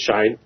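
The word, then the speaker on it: Shein: They're talking about, the entering of, we had a discussion actually just a few hours ago, was it Shine or Shine? I think it's pronounced Shine.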